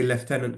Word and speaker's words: lieutenant: went back up to we would say leftenant colonel the Americans say Lieutenant Colonel he went back up